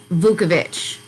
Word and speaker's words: Vukovich: was in 2016 and his last name is pronounced vukovich so so so like